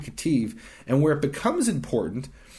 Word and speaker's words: Ketiv: And we call this the Qere Ketiv. Qere is spelled kind of weird.